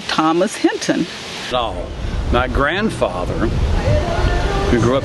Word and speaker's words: Hinton: Wandering through life one day, and I opened the mail, and there was this letter from Audrey Hinton, Hinton. Same pronunciation, a little different spelling.